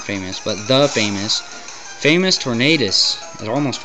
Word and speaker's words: Tornadus: but the famous famous Tornadus it almost Rhymes that's how good he is his name rhymes with famous anyway his dig does